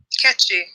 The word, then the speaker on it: Nkechi: No, I want to see how NKECHI, is it? Oh, it's catchy. Nkechi. How do you pronounce it? Catchy. It's Nigerian.